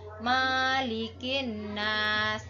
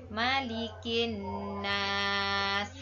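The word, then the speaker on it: مَلِكِ النَّاسِ: Nah, di sini di ayat kedua ini biasanya yang sering sekali Bu Guru dengar anak-anak membaca panjang huruf ma-nya. Nah, membacanya malikin nas. Nah, itu bacaan yang salah. Yang benar adalah malikin nas. Nah, itu yang benar.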